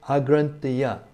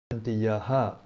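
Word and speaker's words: agranthāya: The word agrantaya may also be read agrantayaha, meaning loosened. Let me clarify that this is not so easy to read. The word agrantaya, with a long A at the beginning, may also be read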